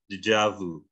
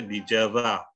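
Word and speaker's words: déjà vu: Dijavu. Pernah dengar kata itu? Prancis. Ya. Kalau pakai bahasa itu saja dijava. Enggak, bacanya dijavu.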